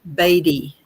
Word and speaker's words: Batty: No, it's it's it's Gail Batty. Batty.